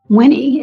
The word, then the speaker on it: Winnie: Yes, Winnie is spelled like Winnie the Poo. Greco.